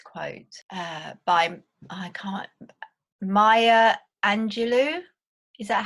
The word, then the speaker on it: Maya Angelou: this this this quote uh by I can't Maya Angelou is that how you pronounce do you know um yeah that's that's